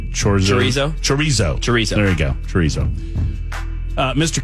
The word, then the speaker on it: chorizo: a type of sausage that I can never pronounce. The chorizo. Chorizo. Chorizo.